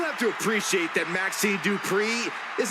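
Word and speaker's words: Dupri: Uh, Michael, it's pronounced Dri representing the Alpha Academy from Phoenix, Arizona.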